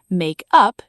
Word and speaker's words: make up: So, to summarize this family, make up, two words, stress on up, equals the verb, to invent, to redo, to reconcile.